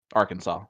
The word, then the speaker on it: Arkansas: goes inside though which is the important part dark Mamba watching from Arkansas Arkansas that's how you pronounce that but Lisa Tyler wants